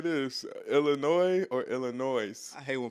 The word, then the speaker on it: Illinois: a conversation with somebody stop adding that s it ain't supposed to be it's it's supposed to be silent it's not even really supposed to be that Illinois Illinois no B I